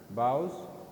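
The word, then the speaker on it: boughs: neatly bows neatly neatly needle like bows branches bows g is silent here bows branches and the brown knobby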